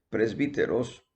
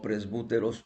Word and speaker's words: presbíteros: Nuevo Testamento que es presbíteros o presbúteros, presbítero, me gusta la manera que se pronuncia porque la transliteración de una especie de U del griego al castellano tiene una pronunciación de Y, de Y.